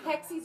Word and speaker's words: hexie: go yes right and hexis are everywhere and hexi is a cute word it is it is no rhymes with sexy I mean anything that